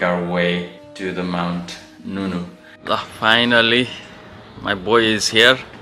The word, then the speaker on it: Ngungun: कसैले यो भन्छ, कसैले यो भन्छ, कसैले माउन्ट नुनु भन्दो रहेछ, कसैले माउन्ट गनगन भन्दो रहेछ.